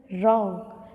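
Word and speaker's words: wrong: जैसे फर्स्ट है rack, rap, right, wrist, wrinkle, रॉन्ग. तो यहाँ पर स्पेलिंग में डब्ल्यू तो लगा हुआ है लेकिन डब्ल्यू को हम रीड नहीं करते हैं.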